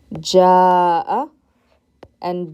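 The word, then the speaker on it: جاء: i put a fatha notice the difference here between ja and ja'a so in this in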